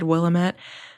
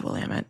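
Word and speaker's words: Willamette: I know that that's the correct pronunciation. So earlier in the episode, I think I said Willamett. I know it's Wamut.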